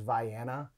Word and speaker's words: Vienna: banks on facebook said vienna sausage and crackers i believe the actual pronunciation is vianna you have to be